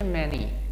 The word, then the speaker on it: many: سبحان این تلفظش میشه many.